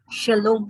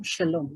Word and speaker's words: shalom: saying hello and welcome shalom shalom that is how it is usually spoken in chinese language when